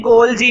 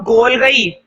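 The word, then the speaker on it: Golgi: देखो इसको हम पढ़ते हैं गोल्जी, मैं तो गोल्जी पढ़ता हूं। अगर तुम इसे पढ़ना चाहो गोल गई तो गोल गई भी पढ़ सकते हो, लेकिन मेरे हिसाब से गोल्जी पढ़ो तो ज्यादा अच्छा है, गोल्जी एपार्टस।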